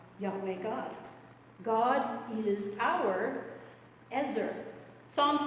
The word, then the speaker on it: ezer: that in in um Hebrew the word is ezer we spell it EZ e r when we transliterate it into English letters it's